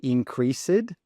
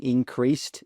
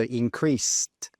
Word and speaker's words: increased: No, when we're using increased in the past, we need to pronounce that s e d as an s t. So increased increased with that t sound at the end.